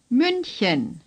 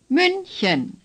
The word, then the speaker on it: München: The CH is similar to the way we pronounce the beginning sound in human or huge. Just breathe out a little more forcefully. Chen. Say Chen. Chen. Say München. München.